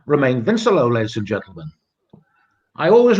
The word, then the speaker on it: Vincelot: Yeah, Vincelot. You don't pronounce the T. Vincelot.